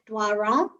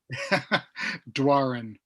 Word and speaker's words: Doiron: paul first of all am i pronouncing it right my friend is not good you're crunchifying it more than you need to save for me dwarin dwarin okay i was just trying